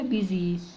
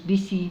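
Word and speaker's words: busy: على الاس والواي احنا قلنا دي نطقها كده بيزي بيزي مش بي سي لا بيزي بيزي بي بيزي بي يعني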